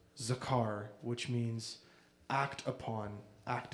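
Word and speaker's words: זכר: but translated into hebrew that word actually is pronounced zakar which means act upon act upon my troubles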